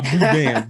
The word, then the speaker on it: boudin: Let me say it correctly. I'm talking like a northerner. A boudin ball.